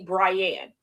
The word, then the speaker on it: Brienne: Call me But my brother, his name in all technicality is not Brian. It's actually Brienne. My mother named him that to rhyme with her name.